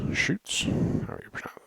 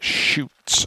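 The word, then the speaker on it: chutes: they are needed for schrutes and shoots shoots wanna pronounce it gotta remember to fix that um so yeah shoots i think s c huts utes little things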